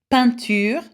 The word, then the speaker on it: peinture: Now, the sound E-I-N, again, it says is pronounced A. So, ceinture, belt. Plein, that means full, plentiful. Peinture, that means painting. Éteindre, that means to switch off. Again, it's a sound, okay? E-I-N is A.